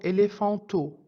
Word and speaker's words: éléphant: famille que le mot éléphanto dans lequel j'entends le T qui était mué dans le mot éléphant un camp est un